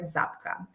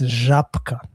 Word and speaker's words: Żabka: pronouncing it right, but I think it's Zabka. Because of Yes, because we have the same wording, let's say, in our country, in ex-Yugoslavian countries, but we call it Zabka.